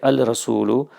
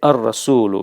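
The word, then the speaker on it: الرسول: But I wanted to point out, so you won't say al-rasulu. You will say, because it's difficult in any case, you're going to say ar-rasulu. You're going to merge the lam and the ra.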